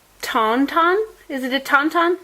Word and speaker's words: Tauntaun: is i think it's tonton is it a tauntaun it's a taunton yeah it's from the empire strikes back he